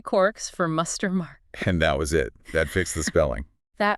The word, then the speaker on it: quarks: Now what's funny is Joyce probably meant it to rhyme with mark, like bark or hark. So not the sound Gell-Mann was using.